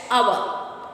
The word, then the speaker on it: hour: So here H is silent. Then you should pronounce honor, honest, our.